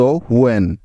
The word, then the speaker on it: when: তো দেখো এই শব্দটির প্রথমেই আমরা পেয়ে গেছি ডব্লিউ এবং এইচ একসাথে। তার মানে এখন এদের উচ্চারণটা করতে হবে হু এর মতো, কি তাই তো? তাহলে ডব্লিউ এইচ এর পরিবর্তে নিয়ে নিলাম হু।